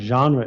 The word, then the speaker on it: genre: knowledge is so important genre is so important it's not generic it's genre what does this remind